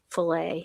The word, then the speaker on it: filet: It's by LE is this is what's pronounced um filet. Yeah. Yeah. It's just it's the French spelling I guess like filet menu.